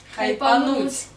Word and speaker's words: хайпануть: Хайпнуть. Хайпануть. А, хайпануть. Правильное ударение.